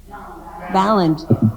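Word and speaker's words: Balint: Ballant.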